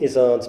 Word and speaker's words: Izzard: I'm going to say it though, Queen Izzard's Bird Blizzard. Yes. How about that? Yeah. And you said Izzard the Jana way.